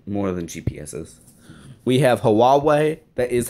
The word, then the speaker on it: Huawei: they do actually more than gps's we have huawei that is how you pronounce it we have sony mobile communications but